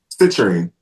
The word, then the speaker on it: citrine: Would it make sense to carry the clear quartz and is it citrine? Am I saying it right? Citerine.